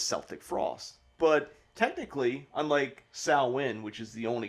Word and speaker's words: Samhain: this band is celtic frost but technically unlike saowin which is the only correct pronunciation of it it can be celtic frost